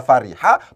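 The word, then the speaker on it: فَرِحَ: diikutkan pada kaidah muncul ini bukan dibaca furia a tidak diikutkan pada kaidah bunga awal2 kushiro maqom lahir karena cara bacanya tidak diikutkan pada kaidah numaia walwa kusiram apabila lahir bacaannya itu adalah Fariha bukan Fury H maka ini disebut sebagai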